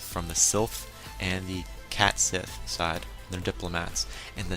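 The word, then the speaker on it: Cait Sith: I believe I pronounced that right, Cat Sith. I get a kick out of saying that name, because I know that's not how you say cat, because C-A-I-T is not cat.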